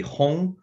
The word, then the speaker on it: Hong: so like in Korean, so Hong would be the Korean pronunciation, would be Hong, and then. So then my Korean name, when you say it, would be Hong.